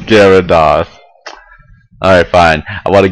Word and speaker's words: Gyarados: it's pronounced Gyarados.